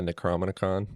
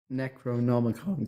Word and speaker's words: Necronomicon: I'll dust off my necrominon. Necroicon. Is that what I just said? Necronomicon. Cody, I thought my pronunciation was pretty fun.